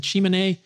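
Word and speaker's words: Tsimane: this article, The Inflammatory Gene Variants in the Chimene, an indigenous Bolivian population with a high infectious load. Chimene is spelled T-S-I-M-A-N-E.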